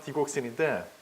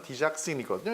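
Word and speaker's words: digoxin: 세 번째 처방을 보시면 이번에는 첫 번째, 두 번째하고 또 차이가 있는 게 지금 첫 번째 처방에도 디곡신, 우리나라식 발음하면 디곡신인데 원래 발음은 디작신이거든요.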